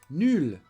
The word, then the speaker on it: nul: And like every adjective in French, there is also the feminine form. Nul, same pronunciation.